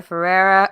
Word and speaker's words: Ferreira: they bring on amazing guests, like Miss India Ferreira, or how do you say her, Ferreira? Am I saying it right? Farah? I always Indifferent. India Fair. Farah.